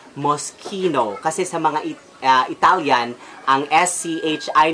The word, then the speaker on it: Moschino: is Versace next is must Chino but it's an Italian brand which should be pronounced Moschino cusamano Italian and SCH